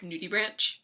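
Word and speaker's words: nudibranch: fan of the I I always assumed that there was some kind of like fancy Latin pronunciation that made it not literally just nudie Branch oh yeah it's nudie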